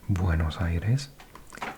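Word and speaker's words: Buenos Aires: way but it is huge Argentina's capital is Buenos Ires that's how it's pronounced buenos Ires good air or clean air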